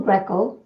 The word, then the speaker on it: Grecco: So, Michael Grecco, am I pronouncing your name correctly?